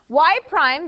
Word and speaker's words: y prime: Y prime, that is exactly how you say it, y prime.